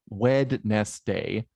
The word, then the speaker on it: Wednesday: I say it because Wednesday is spelled Wednesday, but it's spelled Wednesday, probably because etymologically it's rooted in weddings, but it's pronounced Wednesday.